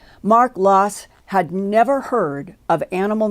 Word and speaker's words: Laas: their last name is spelled l-a-a-s and pronounced loss mark loss had never heard of